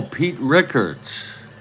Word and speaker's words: Rickert: I see it now Pete Ricker pronounced Rickert okay oh we'll try demos